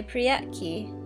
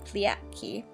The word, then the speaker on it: priyatki: "Mamochka, let's play priyatki," cried Lalechka, pronouncing the R like the L so that the word sounded pliatki.